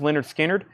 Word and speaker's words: Lynyrd Skynyrd: Vinyl big restock of Lynyrd Skynyrd pronounced Leonard Skynyrd 38.99 Star Wars saga